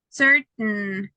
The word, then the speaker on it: certain: You have to stop on letter T, and then you only have the sound. Is that certain, mountain, fountain. It's like I'm not pronouncing completely this part. Okay, because I stop letter T, stop letter T. I do not pronounce this.